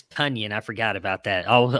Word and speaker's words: Tonyan: if you pronoun it's tony and i forgot about that i'll i will say it right now that he's correct with everybody it's onion it's tonyan like funyuns that's the way he said